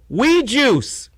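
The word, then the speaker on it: Oui Juice: And see how we is spelled on the bottle? It's the French word, O-U-I. So we live, spelled in English. We love, spelled in English. We Juice, spelled in French.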